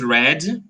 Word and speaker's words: read: this exercised okay okay the past of read is read repeat red red red red that's it so this it has the same pronunciation of the color for example this pen